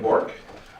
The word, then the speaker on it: Bourque: State your name for the record and spell it first and last name, please. It's Bork.